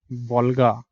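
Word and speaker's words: Volga: उसके बाद आती है आपकी यूरोप की सबसे बड़ी river, this is your river of वोल्गा, ठीक है।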